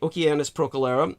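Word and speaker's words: Oceanus Procellarum: By the way, Oceanus Procalera says Latin pronunciation, the hard Kuh, as I thought.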